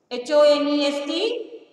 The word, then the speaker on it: honest: These letters are called silent letters. Now, for example, H-O-N-E-S-T, honest.